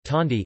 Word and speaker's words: candi: Temples are called kandi, pronounced tandi in Indonesia, whether it is Buddhist or Hindu.